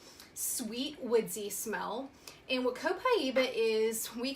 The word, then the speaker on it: Copaiba: Copaiba, that's how you say it, Copaiba.